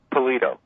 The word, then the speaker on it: Pallitto: Robert very well and how do you say your last name I'm sorry pollito pollito okay yeah I wasn't sure if the two T's meant that I had to shorten the eye or exactly how that goes but